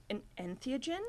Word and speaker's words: entheogen: An entheogen?